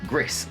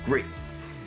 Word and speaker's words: Gris: the French game, or Gris as most people call it for some reason, even though it's French and it's pronounced Gree.